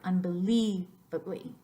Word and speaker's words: unbelievably: IE for unbelievably unbelievably so it's like in that word the leave is the number one most emphasized syllable but the unn at the beginning of the word is the second most accented or emphasized syllable the rest of them